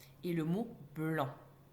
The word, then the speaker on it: blanc: C et le mot blanc, qui contient un C à la fin de son mot, mais que l'on n'entend pas, sauf si on met ce mot au féminin. blanc devient blanche.